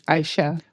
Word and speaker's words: A'iasah: You can pronounce it as Aisha. Aisha.